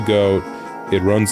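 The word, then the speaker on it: Goht: Yeah, I prefer to pronounce it Goat, it just makes more sense. I don't know why people like to call it Got. And why would a boss's name be Got? It's clearly Goat.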